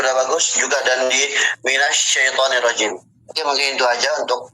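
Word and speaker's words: مِنَ الشَّيْطَانِ الرَّجِيمِ: Nah, jadi untuk syin itu tidak ada hubungannya dengan kedua lisan, kedua bibir. Maka cara bacanya cukup disenyumin. Minas minasyaitanirrajim.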